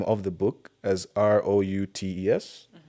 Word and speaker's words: Routes: So not roots as in tree roots. It's kind of like as you said like a route like a path.